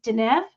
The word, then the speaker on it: Dunev: Okay, I asked her before the show how to say her name, and she said Dunev. It's Dunev. Okay, so.